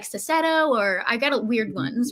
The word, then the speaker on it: Cecchetto: My last name is pronounced Cecchetto. It's Italian.